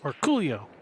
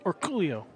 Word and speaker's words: Orcollo: says it so yes he says or Coolio just like that or Coolio with nm with that emphasis oh did he get